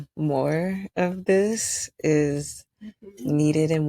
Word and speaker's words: Meaux: It's called. That's why my name on Facebook is. It's like. French, but people know that ho, when you spell it HEAUX, it's still ho. Like, people know ho, but they say. And it just fucks with me. So it's not.